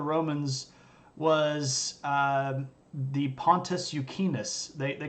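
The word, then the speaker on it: Euxinus: it for the Romans was um the pontis yukus they they called it a lake um they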